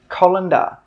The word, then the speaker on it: colander: This is a colander, colander. Three sounds, colander, colander.